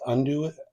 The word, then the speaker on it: andouille: It's pronounced andouille. Andouille sausage.